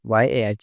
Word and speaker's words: や: や、や、 The pronunciation of character Ya in Japanese is something like the combination of YAH in English.